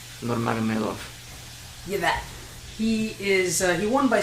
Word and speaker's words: Nurmagomedov: Nurmagomedov.